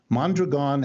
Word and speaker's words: Mondragon: that which is by the way how it's pronounced mondragon has multiple parts some of the parts are